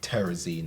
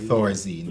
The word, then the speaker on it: Thorazine: So I was listening to a local program, and the conversation surrounded Terrazine, I think. Thorazine. Thorazine, but I think the pronunciation on the program was Terrazine.